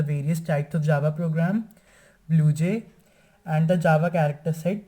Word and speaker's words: BlueJ: BlueJ is named after a bird named Blue Jay. The name is Jay, but it is usually pronounced J. So from there it is derived Blue Jay.